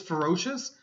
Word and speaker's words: ferocious: your pronunciation this is ferocious this is ferocity ferocity okay ferous ferocity okay so kind of slight change in vowel sound okay ferocious ferocity okay